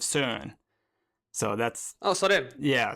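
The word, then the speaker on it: Søren: Soren, exactly. That's perfect. The American pronunciation, but the name is Danish. My mom is from Denmark, and I believe the correct pronunciation is somewhere along the lines of Soren.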